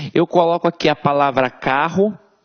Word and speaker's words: carro: Eu não falo carorô, eu falo carro. Então, esses dois R's aqui têm um som de R forte.